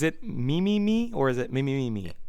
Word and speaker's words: Mimimi: And if I just butchered that pronunciation, is it Mimimi or is it Mimimi?